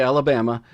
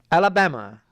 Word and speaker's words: Alabama: You don't say Alabama. You have to say it like Keith Jackson. Alabama.